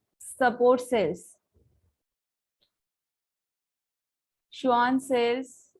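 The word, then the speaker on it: Schwann: Support sales, श्वान cells, इसको स्क्वामन cell नहीं पढ़ेंगे, श्वान सेल पढ़ेंगे, सी साइलेंट।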